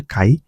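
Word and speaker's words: 界: এটা অন উচ্চারণ হচ্ছে কাই।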